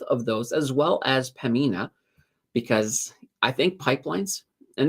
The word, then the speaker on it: Pembina: you could argue with Pembina. or sorry, Pemina. Got to be careful not to pronounce that B.